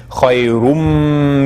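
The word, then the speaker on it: خيرٌ: It's originally khayrun, but then the noon gets absorbed into the meme, so the way we pronounce it is khayrum minan nawm.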